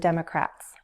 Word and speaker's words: Democrat: That's where there's a mix of Republicans and Democrats. Repeat after me. Democrat, Democrat, Democrat. Stress on the first syllable.